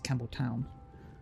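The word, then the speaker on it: Campbelltown: pee out like normal this one is pronounced weird it's Campbell town not ton normally it would be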